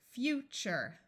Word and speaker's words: future: Even though this is spelled T-U-R-E, it sounds like CHER because the sound TURE is hard to say. So this is CHER, CHER. This U will be long. Future, nature, vulture, texture, capture, fixture, culture.